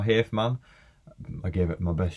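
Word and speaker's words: Hafemann: Eric, I believe you pronounce it Huffman. I'm going to say Huffman or Hafman.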